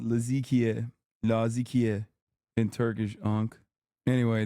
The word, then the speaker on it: Latakia: Laadikia. That's how you pronounce Laadikia area in Syria.